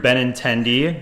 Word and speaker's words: Benintendi: It's Andrew Benintendi.